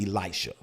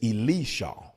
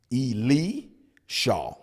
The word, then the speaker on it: Elisha: His name is not Elisha. It's Elisha. El Shaw. Say it with me. El Shaw. El Shaw. El Shaw. His name is not Elisha.